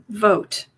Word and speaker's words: Vought: Vote. VO. I've heard him. I've heard it. I've heard people say his name is pronounced vote.